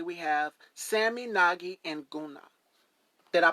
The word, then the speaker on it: Njguna: Let everyone know the pronunciation. Okay. Yeah, my name is Sammy Nagi Njguna. Njguna. Njguna.